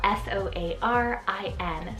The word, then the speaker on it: Soarin: for b is the name soren it's called s-o-a-r-i-n soarin guys i'm loving the names that you